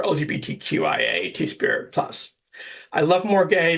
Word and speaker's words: MORGAI: I love more gay because it's pronounced more gay, and that's really the whole aesthetic of what we're going for, or what I'm going for anyways.